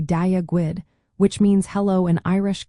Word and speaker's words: Dia Dhuit: The first word Dia is pronounced like the English word di and then so dia. The second word Dhuit is a bit trickier. The DH sound is often like a soft G in English, so think of the G in good. Then you have the WIT sound, like the English word wit.